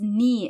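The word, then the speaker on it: nie: her knee never is knee in German is pronounced exactly like the body part a knee as you can see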